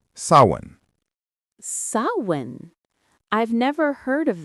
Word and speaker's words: Samhain: Halloween's origins go back thousands of years to an ancient Celtic festival called Samhain, pronounced sawin.